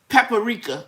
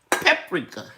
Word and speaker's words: paprika: family and three kids i used to say paprika because that's what my mother pronounced but it's paprika and it's not pomegranate it is pomegranate anyway